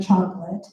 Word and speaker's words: chocolat: So an example of that is the word chocolate, which is spelled CHOCOLATE.